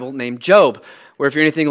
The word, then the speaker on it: Job: reading the book and it says J-O-B, last time I checked, that's Job. And so I'm going to read the book of Job. But this man, Job, is how you pronounce it.